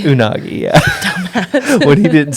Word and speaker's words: unagi: rolls have rice yeah unami it's unagi unagi yeah dumb when he